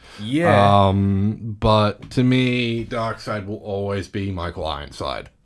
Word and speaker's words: Darkseid: of darkseid himself or dark seed dark side yeah it's dark side it's spelt taxi but